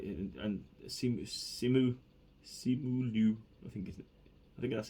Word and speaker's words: Simu Liu: And these were like, and Simu Liu, I think that's how you pronounce it. Simu Liu, who plays Shang Chi, he nailed it, man.